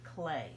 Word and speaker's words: Klee: whose name is Paul clay let me show you here that's how you spell his name and it looks like Klee doesn't it but it's pronounced like clay and we're going to